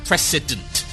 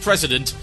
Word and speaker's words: precedent: Yeah, precedent. I can never pronounce that name correctly. Not president. No, it's not a worrying precedent like so many others. It's a worrying precedent. Precedent.